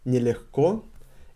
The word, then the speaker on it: нелегко: So, соревноваться to compete, крайне, extremely, очень is very, нелегко is difficult. Нелегко is a very important word, and you can hear нелегко. Нелегко. We pronounce g as h.